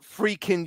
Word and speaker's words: Friedkin: No, it's pronounced Freakin' University.